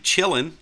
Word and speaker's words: Kylin: then we have auntu chilling I know that's how you say it believe it or not looks like kylin to me but that is a